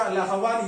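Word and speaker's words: أخوان: के ऊपर हमजा है, तो इसका प्रोनाउंसिएशन होगा अखवान, ये इखवान नहीं होगा।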